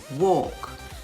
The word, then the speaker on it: walk: chalk c-h-a-l-k should s-h-o-u-l-t walk w-a-l-k the l in each of these words is silent silent and words autumn